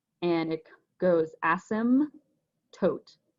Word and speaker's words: asymptote: silent and it goes asim tote so the p is silent it's just all one word you can practice it